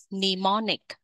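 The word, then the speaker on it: mnemonic: cái từ này nhé chữ m đầu tiên được ghi nhưng không được đọc ponic nemonic thuật ghi nhớ ví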